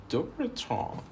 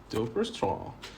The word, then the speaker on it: Dupuytren: This is actually a French word named after a surgeon that discovered this. So it's pronounced like Dupuytren. Dupuytren. Today I brought you even French pronunciation. No more mistakes.